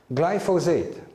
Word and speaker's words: glyphosate: have here with you glyphosate three syllables glycin methyl phosphonate glyphosate